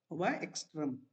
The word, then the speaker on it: MobaXterm: MobaXterm, X Xterm. MobaXterm is pronunciation.